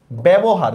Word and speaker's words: ব্যবহার: যেমন দেখেন ব্যবহার, দেখেন জফলার পরে কি ই আছে? নাই, এই জন্য আমাদের উচ্চারণটা কি হবে? ব জফলা একার ব, এই ব্যবহার, দেখছেন এই টাইপের।